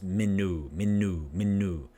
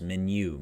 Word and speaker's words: menu: If it's just oo sound, it's menu. But it's menu.